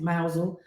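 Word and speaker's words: Mousehole: mouse or not Mouse it looks like mouse hole but I think you pronounce it mousel that was a bit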